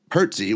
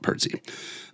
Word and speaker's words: Pertzye: And then again, Pertze, which is Pertze. Let's see. Don't worry, I have some nearby because it was just so great. Pertzye is how you spell it, Pertze.